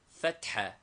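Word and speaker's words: فتحة: The vowels are fatha, a, pronounced like the a in hat, and dhamma, u, as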